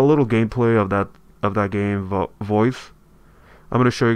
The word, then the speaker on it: Voez: It's V-O-E-Z. Supposedly pronounced as Voez. Voice or anything like that.